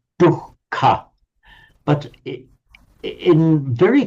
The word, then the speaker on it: dukkha: So in Pali, this one, which I'm underlining here, it's simply a double K, dukkha, dukkha, yeah. Double K and aspirated. In Sanskrit, that H is separately pronounced as dukkha, dukkha, with an H sound.